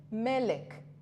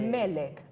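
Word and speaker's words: מלך: Es exactamente la misma forma que se escribe o que se dice Melech, que es rey. Rey. La misma, no hay diferencia. Solo cambian las vocales.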